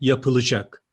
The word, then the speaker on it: yapılacak: atlaması kusuru olurdu burada yapılacak yapılacak şeklinde yazılır harf daralması kuralı gereği yapılacak şeklinde telaffuz ederiz tekrar dinleyelim burada yapılacak